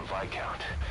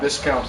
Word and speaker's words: viscount: One of the other British prisoners filled us in about the Vic count. It turns out he's a real two-faced son of He was I always pronounce that viscount in my head.